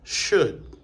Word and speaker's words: should: après ces expressions là à remarquer également que il pas prononcé dans could and should. OK. N pas dit could mais nous dit could nous pas dit should mais nous dit should. N pas dit would mais nous dit would.